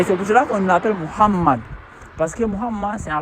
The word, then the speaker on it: Mohammad: Donc vous voyez donc Mohammad ça c'est appelé Mohammad à cause et don on doit bien prononcer pas Mohamed, on doit prononcer Mohammad.